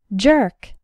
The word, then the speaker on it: jerk: jam and journey and the letters e r sound like in the words were learn and bird say the word after me jerk the word jerk refers